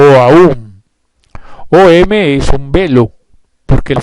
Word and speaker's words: Om: inicial om o aú om es un velo porque la frase manú no consta de seis partes sino de siete sílabas Pues la primera sílaba es doble y debidamente pronunciada es a gu um y tiene esencia trina